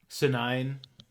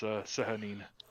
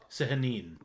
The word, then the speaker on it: Sehanine: You know that Senine, let's call her Senine, Sehanine. I looked up how to pronounce it actually. What is it? It's Sehanine. Sehanine.